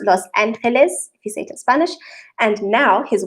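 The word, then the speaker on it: Los Ángeles: the sierra norte but moved to los angeles pronounced los angeles visited spanish and now his work was to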